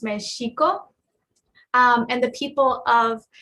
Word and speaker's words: Mexico: naat um is pronounced so Mexico should be pronounced meeso um and the people of mexiko are the